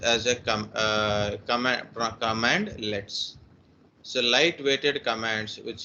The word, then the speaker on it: cmdlet: or completely bored command legs a command light pronounced as a com command command let's so light weighted commands which is used in